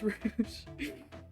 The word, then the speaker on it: Rouge: Also, I figured out how to pronounce it. It's not Rogue, it's Rouge.